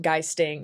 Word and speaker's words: geisting: Geisting, I didn't realize it was pronounced geisting until halfway through, i.e. poltergeisting.